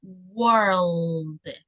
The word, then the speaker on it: world: Esta se pronuncia world. No hay que olvidarse de la L, world. World y luego el D, world.